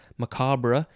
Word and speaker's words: macabre: Macabre is spelled Macabre, so you could sort of say it macabre if you wanted to, but I think mostly people just say macabre.